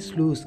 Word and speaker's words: slough: They are called sloughs. This is one such slough.